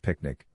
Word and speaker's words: PQNK: The PQNK pronounced picnic which stands for Peter